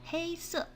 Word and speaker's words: 黑色: 黑色 is hey is very easy to pronounce. It's like hey, but it's just first tone.